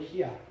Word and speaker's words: HYA: HYA. 그분들의 발음으로는 희야.